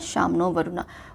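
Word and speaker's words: शं नो वरुणः: है Shyam नो वरुणा Shyam नो वरुणा pronounce as शाम नो वरुणा which means B ऑस्पी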